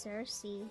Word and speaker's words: Circe: Oh, let's see, her name is pronounced Circe. Circe?